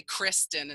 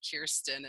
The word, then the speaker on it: Kirsten: at my name and they say Cristen instead of Kirsten and so how do